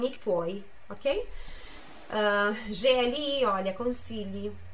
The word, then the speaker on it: consigli: A chi scambia i suoi consigli coi tuoi.